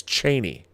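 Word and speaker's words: Chani: actually here's the thing I say Cheney I've been saying Chie for 50 years and then I was on a live stream Chris scores versus live stream on Monday and I was corrected and I looked it up I've been saying it wrong it's Cheney Cheney not Chie and apparently they were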